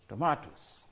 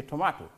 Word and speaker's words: tomato: Tomatoes some may wonder you have two ways to pronounce tomato in standard English they will say tomahto I believe in American media say tomatoes so either way either way is correct tomorrow becomes Tomatoes potato